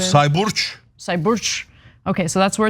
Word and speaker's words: Sayburç: It's Sayburç. No. Sayburç, because it's C's are pronounced as J's for some reason. Sayburç.